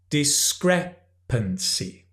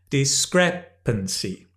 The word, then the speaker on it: discrepancy: and the reality okay notice the pronunciation it's discrepancy can you say discrepancy when you practice exaggerate the stress discrepancy so we can have